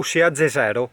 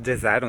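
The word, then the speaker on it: jezero: Ah, e lago si pronuncia come in Slovenia, o Jezo o Jero, in pratica si scrive J-E-Z-E-R-O.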